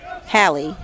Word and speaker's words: Halley: In the batter's box is number 3, Hallie, Halley, H-A-L-L-E-Y, Hallie. And if anyone hears that I am mispronouncing something, please let me know.